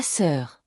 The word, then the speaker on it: sœur: La sœur, la sœur. This one trips people up. The OEU sound is like saying, with rounded lips.